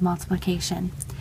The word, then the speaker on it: multiplicatio: And in Latin, it's pronounced multiplicatio.